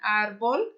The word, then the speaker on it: árbol: Então, aqui a minha sílaba forte aqui, árbol, que é árvore, né? É a penúltima, né? Ó, última, penúltima. E aí, aqui, a penúltima, ela é forte.